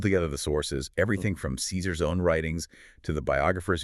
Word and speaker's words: Caesar: We say Julius Caesar, but the ancient pronunciation, as historians tell us, was closer to Julius Kaisar, right? Kaisar.